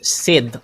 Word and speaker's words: SAD: we up against team sad I don't know like I think it's pronounced as s so it's not sad it's said Sid Sid s versus Team